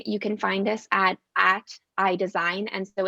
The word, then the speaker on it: Aille: With the pronunciation of that name, it's actually a common question as to how you actually pronounce it, because it's spelled more similar to ale, or sometimes people will call us. They think but really it comes from the French verb aller, which means to move forward.